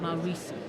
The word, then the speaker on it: Maurizi: Maurizi. Maurizi, yeah? Maurizi. Think of Mao and Risi.